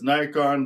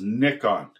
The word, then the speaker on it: Nikon: I think in America and Canada we call this Nikon, but the actual pronunciation is Nikon.